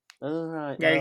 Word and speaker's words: Gael: And knowing that the actor, Gail, I'm going to pronounce García Bernal. Gael García Bernal.